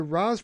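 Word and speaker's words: Ra's: Arabic language and that the closest way to properly pronounce his name would be the Raz pronunciation.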